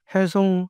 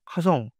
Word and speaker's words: 김혜성: 근데 이제 미국 방송에서 김혜성 선수를 발음할 때 김하성하고 구분을 잘 못 하고 있어요. 그래서 얼핏때면 김하성이라고 들려요. 해성 하성 신경 쓰지 않으면 미국인들은 구분하기 어렵죠.